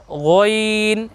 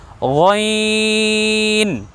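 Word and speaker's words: غ: আপনাদেরকে সতর্ক করেছিলাম যে এই বর্ণ উচ্চারণ করার সময় সতর্ক থাকতে হবে যেন মুখ গোল না হয়ে যায়। দেখুন আমরা বলেছিলাম যে গইন এটা হলো শুদ্ধ নয়, অশুদ্ধ।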